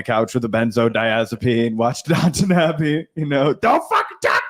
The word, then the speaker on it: Downton Abbey: It's Downton Abbey. Downton Abbey. Nobody calls it Downtown Abbey. Yo, you want Did I the say- Downtown I Abbey? didn't say downtown. No, you Abbey. didn't. But it's spelled Downtown Abbey.